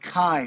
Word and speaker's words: Kai: So let's say it's pronounced Kai, right? Your nickname? Yeah, it is.